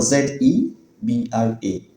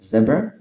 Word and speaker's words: zebra: Next, the animal Z E B R A. Brits pronounce it as zebra.